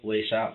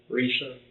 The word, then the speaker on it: Risa: I can't pronounce hers right. Your mom's name's what? Lisa with the R. Risa?